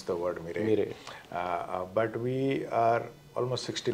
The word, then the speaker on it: Mirae: Not many people still can pronounce the word MIRAE. MIRAE.